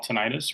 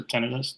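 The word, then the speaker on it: tinnitus: And that's what sends erroneous sounds to the brain we call tenitis or tenidis depending on your pronunciation.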